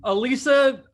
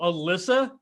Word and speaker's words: Elissa: possibly can man uh elisa and i'm pronouncing her name correctly this time it was so funny last time i called her did you tell evan last time i called you alyssa and she wouldn't she